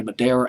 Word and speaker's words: Madara: a couple of songwriters johnny madara just pronounced this johnny madeira and david white johnny